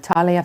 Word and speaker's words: Thalia: Joining us now by phone, we have Thalia Fisher. She is from All Seated in a Barn. I hope I'm pronouncing your first name correctly, am I? You nailed it.